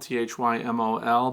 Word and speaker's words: thymol: It's spelled thymol, T-H-Y-M-O-L, but we're supposed to say thymol because it's thyme oil.